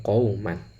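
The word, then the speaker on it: قَوْمًا: Lafal qauman, mimnya yang ditanwin itu sebenarnya sama cara membacanya ketika dibaca, yaitu qauman ya. Mim, kemudian setelah itu ada nun sukun ya.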